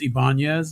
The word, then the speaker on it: Ibanez: have an acoustic eyebrows but like that's it's pronounced Ibanez number one hey banyas I have one from